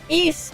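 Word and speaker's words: Ys: old game this one no East y s yeah I don't know why it's pronounced that way but yes it's this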